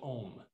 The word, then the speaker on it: Om: So om is often spelled O-M, but the actual pronunciation is A-U-M.